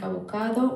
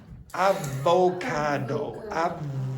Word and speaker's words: avocado: the color of the ingredients is green like avocado. White like what? Like avocado. How do you pronounce that? Uh uh in English that thing there. Aocado.